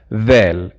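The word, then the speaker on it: ذال: del which is vel vel you see i have to put my tongue out to pronounce it correct vel it is the same sound as in english when you say there or that same it's supposed to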